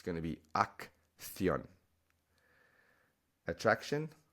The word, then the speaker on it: acción: So in that case, you would pronounce it action in English, and in Spanish, acción.